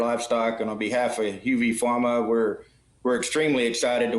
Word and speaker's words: Huvepharma: is a little tricky a lot of people mispronounce it but it's actually uv pharma so it's the first two letters of the